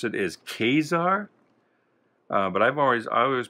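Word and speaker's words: Ka-Zar: somebody pronounced it as kazaar but i've always always pronounced it kazaar i put the emphasis on the second syllable how do you how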